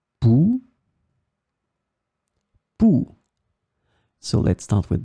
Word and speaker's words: pouls: In this lesson, we will see together two words that are written differently but pronounced the same way. Pouls, pouls.